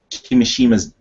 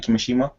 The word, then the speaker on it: Kimishima: So many people are ready to ride on Kimishima's. Have I said it right? Kimishima.